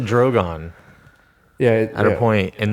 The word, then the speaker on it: Drogon: Drogon. Drogon. Drogon, Zach. Okay, That's what they pronounce it. It's Drogon.